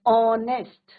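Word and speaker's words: honest: एच is your silent. An ऑनेस्ट एच क्या है बच्चों? साइलेंट है।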